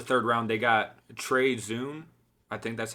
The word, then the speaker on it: Zuhn: So late in the third round, they got Trey Zuhn. I think that's how you pronounce his last name. Out of Zuhn. Zuhn, yep.